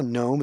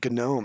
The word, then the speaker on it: gnome: You know, because you know how gnome is spelled G-N? Somebody pronounced it gnome. And it's like, gnome.